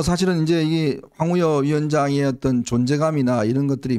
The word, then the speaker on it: 황우여: 관심을 기울일까 그 황 황우여 저 보통 이제 이게 발음할 때 황우려 황우려 이게 발음하기도 편하니까 그 저희 때도 항상 황우려 황우려 뭐 그 의원 황우려 대표 뭐 원내대표 그렇게 얘기했는데 맨날 우려만 하고 있으면